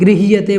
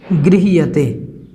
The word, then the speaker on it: गृह्यते: आराम से पढ़ सकते हैं अंतिम पंक्ति में गृह्यते बोलना है इसको गृह्यते इस प्रकार से इसको उच्चारण में आप एक दो बार बोलेंगे तो